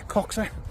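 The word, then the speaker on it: Coxhoe: the Village of coxa it's spelled coxo but the locals like to see coxa if you know what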